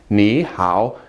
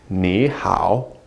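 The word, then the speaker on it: 你好: greetings last time Nihao again to third tones in a row if you pronounce them quickly Nihao no one's gonna know the difference and everybody's going to understand you I promise but again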